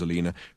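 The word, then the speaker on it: Elena: It was about a week ago, when Durk had tried a simple subtifuge to trick Alina, the old bat's name was Alina, pronounced to rhyme with cleaner, which was an irony that Durk now no longer relished, into opening the fridge door.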